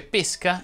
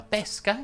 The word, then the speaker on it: pesca: chiusa ecco qualche esempio si dice pesca intesa come sport ed esca intesa come cibo trappola poi si dice tresca fresco affresco tedesco fiabesco e così via le uniche eccezioni a questa regola sono la pesca intesa come frutto ed esca inteso come